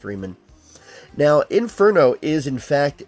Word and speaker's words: Riemann: I believe that would be pronounced Riemann.